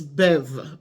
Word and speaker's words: Bev: say my name Miss Bev's production Beverly from Miss Bev's production some of you call me Miss bevs no it's Miss Bev bevs means that it